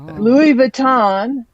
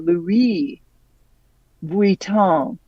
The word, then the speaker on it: Louis Vuitton: Jean Paul gotier not Jean Paul gotier okay Louis Vuitton I see I watch too much TV I hear the celebrities pronounce these things um the correct pronunciation is Louie oh Louie Von Von okay and L not Louis Vuitton okay